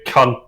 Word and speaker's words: Kant: I think Kant disagrees with you. Well, yes, And yes, that's how you pronounce it.